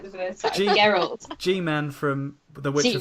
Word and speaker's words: Geralt: And then last bit of news, and I'm going to pronounce his name wrong. Rebecca told me how to say it. Geralt. Geralt.